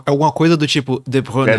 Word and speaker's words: De Bruyne: Como se pronuncia, Thiago? Isso é difícil, hein? É alguma coisa do tipo De Bruyne. De Bruyne, né?